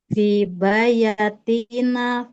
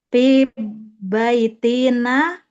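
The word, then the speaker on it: في بيتنا: Fi bayatina tholabu. Fi Ulangi. bayatina salah Bukan. satu guru. Bukan. Eh, Bukan fi bayatina. fi baitina.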